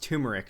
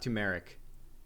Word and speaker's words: turmeric: why why is also it's pronounced turmeric not tumeric it's tumeric legality that